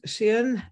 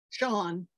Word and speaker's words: Sean: I always say Sheehan because he's written Sheehan. I'm not so good in English. Yeah, Sean. It's Celtic, actually. And they pronounce things very differently from what they're spelled.